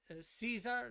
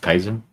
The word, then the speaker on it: Kaiser: JR says the 3 royal cousins, all grandsons of Queen Victoria, King George the Fifth, Kaiser Wilhelm II, Caesar, not Caesar. I know how to pronounce Kaiser.